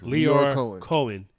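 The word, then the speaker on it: Lyor Cohen: Leor Cohen.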